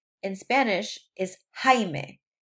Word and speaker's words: Jaime: For example, my dad's name in Spanish is Jaime. It's spelled J-A-I-M-E. So when you see a J in Spanish, it's actually pronounced like an H sound.